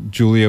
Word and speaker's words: Jul3ia: on iTunes you're also Julia with the silent 3 with a silent three yes J L 3 I a um and is it just Julia or do you use